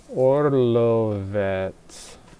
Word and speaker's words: Orlovets: Orlovets? I'm not great at the pronunciations. I can just kind of make out what the Cyrillic might sound like. Orlovets. Yeah, that's it.